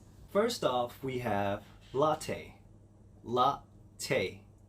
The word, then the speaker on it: latte: let's try it first off we have latte la tay latte latte can i get two shots of espressos